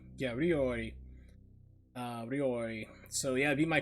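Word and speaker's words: 料理: Ori. Yeah, Ryori.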